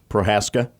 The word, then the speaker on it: Prochaska: His name is Teddy Prochaska. Prohaska. I think it's Prochaska. Oh, Teddy okay. Prochaska. I know Prohaskas that spell it the same way.